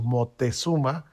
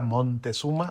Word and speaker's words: Moctezuma: Y hablabas de la ópera Moctezuma, no crean que lo estoy pronunciando mal, lo que pasa es que Vivaldi así le puso Moctezuma, o a veces el castellano antiguo era Montezuma o Así es.